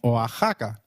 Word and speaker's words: Oaxaca: as X in flexible it is pronounced as a throaty h in the words Mexico Mexicano and Oaxaca which is a state